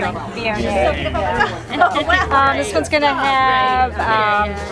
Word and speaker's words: Viognier: Viognier, and that's the way you pronounce that. One of the most mispronounced wines. Yeah, Viognier or something. Viognier. Nobody says it that way, so I kind of go back to saying Viognier.